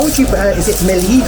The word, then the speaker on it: Mellieħa: Is it Mellieha? Mellieha.